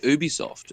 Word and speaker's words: Ubisoft: square enix how about OB all right kin have you seen anything about OB soft why are you saying ooh be soft it's not supposed to be pronounced OB it's like the gif